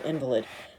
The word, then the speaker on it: invalid: which would be invalid so we put the accent on the first syllable for an invalid and that is a